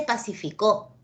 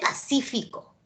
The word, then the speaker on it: Pacífico: se puede decir Pacífico separemos en sílabas acá dice pa sí fico no dice pacificó dice Pacífico entonces no es no